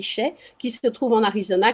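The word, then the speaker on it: Chelly: canyon de chèques ans alors ça s'écrit shelly mais ça se dit chef qui se trouve en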